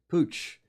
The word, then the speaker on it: Puig: I don't know how you get Pooch out of that. Well, that spelling, it's the way it works, and that is Catalan, not Spanish. Yes, okay. Puig, Pooch.